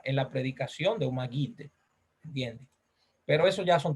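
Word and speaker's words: מגיד: La palabra predicador, por cierto, en hebreo se dice magid. Magid. Así se dice la palabra predicación en hebreo. Magid. Otra vez. No, con G, con G. Magid.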